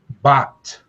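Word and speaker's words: בת: Bat. Bat. Did y'all hear that? Bat. B, ah, t. Bat. The Beit makes the b sound. The Tal makes the t sound.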